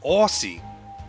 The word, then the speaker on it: Aussie: But, yeah, like, it's really, really common, especially for Americans, to say, like, pronounce it like Australia, Aussie. And it's not how people say it.